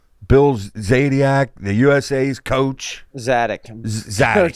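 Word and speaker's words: Zadick: Zadiac. Did I say his name right? Bill Zadiac, the USA's coach. Zadok. Coach Zadok, yeah.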